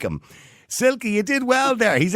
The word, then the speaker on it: Silke: Now, I'm going to pronounce her name wrong, am I? Because her name is Silke, is it? Silke, yeah, hello.